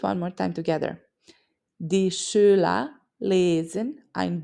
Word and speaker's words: Schüler: The sh at the start of Schüler and Schule, the E in die, and the long U in Buch. Let's do it one more time together. Die Schüler lesen ein Buch in der Schule.